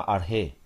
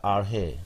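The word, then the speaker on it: ἀρχή: llama, pronunciada ya se llama arge. Principio. Sí, Arche. ok, que se escribe arche. Ajá. Ah, se pronuncia con arge. acento, con acento en la E. Yeah, arge.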